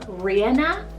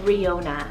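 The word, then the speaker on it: Ríona: to the girls side i have the name rhianna or riona spell r-i-o-n-a this one is so beautiful it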